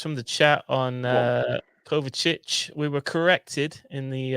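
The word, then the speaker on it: Kovačić: mask anymore mate uh it's pronounced cover chich so we will trust just go himself cover chich all right um let's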